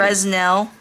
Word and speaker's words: Fresnel: like a kindergartener handwriting frel frel I know but it's spelled fresnel that look good hi